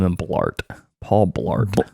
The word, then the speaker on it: Blart: have to name him Blart Paul Blart it rhymes with fart Blart fart it's like bloat and fart yeah combined bloated fart it's a Blart um but